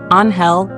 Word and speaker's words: Angel: Anhel del Danish pronunciation.